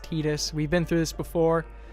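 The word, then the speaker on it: Tidus: I think is right I already know that titus's name is wrong I know it's pronounced tetus we've been through this before and I'm about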